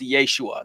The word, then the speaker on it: Yeshua: you who don't know Jesus's name in Aramaic would have been pronounced Yeshua that's what his friends and family would have called him Jesus is the Greek version of the name Yeshua but the English version of Yeshua is Joshua so like